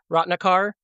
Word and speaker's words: Ratnakar: A R U L A Rottnikar.